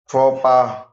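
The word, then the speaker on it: faux pas: बनावटी फ नकलिया बनावटी French origin word x is silent फोपा फोपा सामाजिक गलती या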